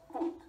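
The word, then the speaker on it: fut: The word for fuck is foot, and it's pronounced foot.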